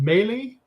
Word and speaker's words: Maley: On the 30th of October, we have Joshua, is it Maley? Is that how you say his name? Oh, Roger? Josh Maley, yes.